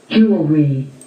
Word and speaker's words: jewelry: Jewelry. Jewelry. Jewelry. So, hindi ho siya J, kung hindi Ju.